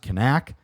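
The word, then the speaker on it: Knaak: And they have an ace, Aiden, supposedly it's pronounced Kanak.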